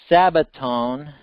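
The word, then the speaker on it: σάββατον: Wait, yeah, is sabbaton. They don't pronounce it with the shin, like the sh, like in Hebrew. But it's very similar to shabbaton.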